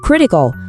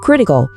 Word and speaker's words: critical: chúng ta chính là critical. Thay vì nói very important, từ bây giờ hãy thử dùng critical. Cả nhà nghe kỹ cách phát âm nhé. Trọng âm rơi vào âm tiết đầu tiên.